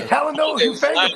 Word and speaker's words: Talanoa Hufanga: Talana Hufanga? We needed crickets right there. I'll get right on it. Did I say that right? Is it what is it? Talana Hufanga? Yeah, Talanoa Hufanga.